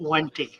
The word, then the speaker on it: wendtii: Crypt Wenty. wendtii.